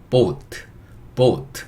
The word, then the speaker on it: boat: 예, 그거 생각하시면 되고, 근데 영어식 발음할 때는 우 소리를 넣어서 boat 이렇게 해야 된다.